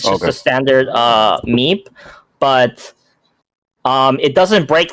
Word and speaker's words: MEPE: So meep mode, if I'm not mistaken, it's spelled MEPE, right?